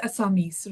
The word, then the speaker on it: Assamese: But in English, Assam, Assam, And the language is Assamese, right?